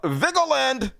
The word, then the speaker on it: Vigeland: ideas folks Democrats not serious people meanwhile Emma vigeland correct way to pronounce her name scoop Schumer open to dumping